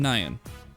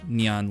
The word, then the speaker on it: Nyan: Hi, I'm Nyan. Said like that, not Nyan like it's pronounced in Japanese.